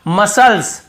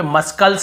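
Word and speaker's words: muscles: यहां पर भी देखिए मसल्स मसल्स मसल्स यहां पे मस्कल नहीं पढ़ रहे यहां पर भी सी साइलेंट है फिर देखिए सीजर्स सीजर्स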